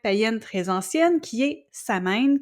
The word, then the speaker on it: Samhain: ancienne qui est Sameine qui se prononce en fait souvent comme Soin mais moi je le dis ça mine parce que je l'entends tout le temps comme ça mais en théorie paraît que c'est Soin et chez les peuples